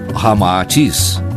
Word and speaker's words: Ramatís: Unindo-se Rama e Atis, cita ao inverso, resulta Ramaatis, como realmente se pronuncia em hindo chinês.